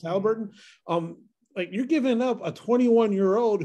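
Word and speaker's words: Haliburton: Like Halliburton, I mean, is it Halliburton or Hiliburton? I don't know how to pronounce Halliburton, it. It's Halliburton.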